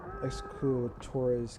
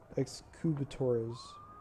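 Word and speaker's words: Excubitor: don't have access to exor's Cavalry guard I think I pronounced that wrong excubator Cavalry guard also I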